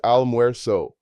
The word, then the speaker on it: almuerzo: Lunch is almuerzo, pronounced almuerzo.